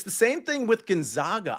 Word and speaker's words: Gonzaga: the same thing with Gonzaga I say Gonzaga instead of Gonzaga and I think I'm pronouncing it correctly everybody else is doing